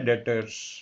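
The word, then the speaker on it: debtor: सबसे पहला जो है इसके अंदर ट्रेड रिसीवेबल के अंदर आता है डेटर्स। डेटर कहते हैं इसमें बी साइलेंट होता है।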